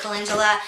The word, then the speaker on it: calendula: It's called calendula oil, and it's spelled C-A-L-E-N-D-U-L-A.